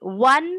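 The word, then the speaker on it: one: तो यहाँ पे ओ है, लेकिन इसका प्रोनाउंसिएशन वी की तरह है.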